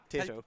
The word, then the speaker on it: Tayto: Tayto.